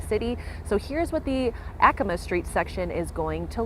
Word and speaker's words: Acoma: Apparently it's always been Acoma, but everyone says Acoma. So just so you know what we're talking about, it's Acoma.